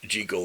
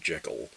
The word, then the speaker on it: Jekyll: Jekyll rhymes with heckle, and that kind of took over, at least for us Americans, as the main pronunciation.